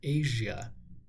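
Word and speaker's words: Aja: Steely Dan album whose name is pronounced Asia I don't know satisfies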